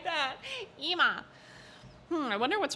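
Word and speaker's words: Ema: Listen, if they wanted me to pronounce it Emma, they should have added another M.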